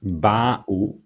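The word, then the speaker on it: בָּאוּ: So here we have the verb ba'u, and since the stress is not on the last syllable but on the one before, we are always looking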